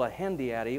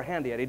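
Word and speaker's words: hendiadys: h en di ady ahem deity or hand Eid depending on which part of the country you're from you'll pronounce it one of those two ways you say what's a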